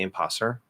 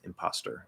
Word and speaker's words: imposter: you can't do that you can't say imposser imposter imposser uh maybe in really fast speech but if it's inside of a word it's is imposter imposter um but he's like